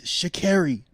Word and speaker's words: Sha'Carri: No, she's like it's Sha'Carri. Cause I was calling her Sha'Carri. So I spelled with 2 R.